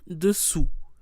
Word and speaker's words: dessous: First of all, note the difference in pronunciation. Dessus with an U sound, and dessous with an OU sound. Dessus, dessous. U, OU.